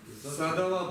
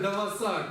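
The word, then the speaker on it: གཟའ་ཟླ་བ: Садава, правильно. Кто там читает Даваса? У кого там проблемы, я не понимаю. Куда ведет эта стрелка? Стрелка куда ведет? Она ведет сюда или вот сюда? Боже мой, ну используйте уже common sense. Садава. Садава, вот так это будет.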